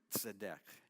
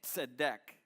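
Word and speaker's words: צדיק: go ahead so deck it's not natural for our tongues to say that TZ sorry and it literally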